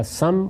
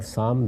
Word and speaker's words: سام: یافس دونوں تلفظ ہیں، اسی طرح سم اور سام دونوں تلفظ ہیں۔ ان کی اولاد آگے